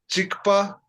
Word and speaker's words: གཅིག་པ: Chikpa repe. Okay? Is it chick or chi? Chikpa. Or the ka sound is silent there.